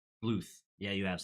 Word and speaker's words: Bluth: apologize because I think I've said Don bloom a good like 10 time it's Don BL Bluth yeah you have said